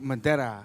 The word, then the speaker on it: Madera: It was just like Madera.